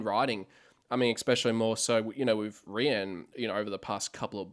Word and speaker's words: Rian: So that was really cool, just seeing the 3 announced with Ryan, or I should say it's now pronounced. I think it's pronounced Rian, isn't it? I believe it's Rian. Rian.